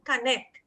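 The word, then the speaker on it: Kanet: And you know that Thai people say Ganesha is like a fee connect. They pronounce connect, K-A-N-E-T.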